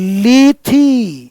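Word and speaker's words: Lethe: एंड लीथी, इसका pronunciation ध्यान रखना, लीथी वर्ड्स हैड संक, और ऐसा लग रहा है मानो मैं लीथी रिवर में डूब गया हूं।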